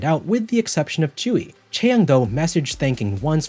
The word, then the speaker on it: Tzuyu: Chewy? 야, How do you want me to say it? 어떻게 그 발음을 했으면 좋겠어요? Chewy? Tzuyu.